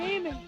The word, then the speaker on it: Eamon: This is Flame and Eamon broadcasting to you alive from a messy bedroom somewhere in the universe. Now, the reason they call me Flamin' is because it rhymes with Eamon.